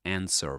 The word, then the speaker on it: answer: That sounded more like answer.